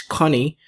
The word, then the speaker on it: Goni: it has already an international name known as connie that's the pronunciation of actually it's connie that's the korean name for swan okay so